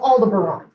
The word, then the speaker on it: Aldebaran: through the shield this bright star is called aldebaran that is filled a-l-d-e b-a-r-a-n it is on